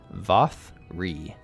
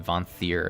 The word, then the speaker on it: Vothri: Ah, I've been doing it bad. Vothri. I've been saying Vanthir or something.